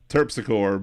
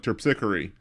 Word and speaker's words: Terpsichore: Terpsichore, but it's like some people will be like Terpsichore. Oh, okay. But I think correctly it's Terpsichore.